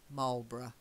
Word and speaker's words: Marlboro: set place names can be very difficult to pronounce because it looks like bar rough or something but we say borough Marlboro okay very good but the same as small